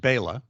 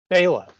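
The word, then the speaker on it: Béla: it's uh it's pronounced bayla bayla yeah i should know i hear it when i on your podcast yeah it's it's hungarian oh okay yeah so it's a very common uh hungarian name uh that does not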